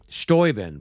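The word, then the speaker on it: Steuben: Stoben.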